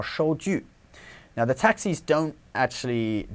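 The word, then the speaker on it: 收据: And it's important not to, don't mix up the pronunciation of 收据. It's not, it's normally handwritten, but it isn't the character for hand. So don't say 手据, because that means a hand saw, okay?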